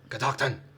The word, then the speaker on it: Catoctin: where they called Klingon it sounds like Klingon Catoctin I don't know I